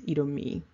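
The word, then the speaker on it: Edomite: Some people pronounce that I-T-E as it. It is, however, pronounced E, and so it's Edomi.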